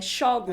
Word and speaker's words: Xógum: acento no nome né shogo verdade a pronúncia que o livro ficou aqui no Brasil foi essa e esse livro é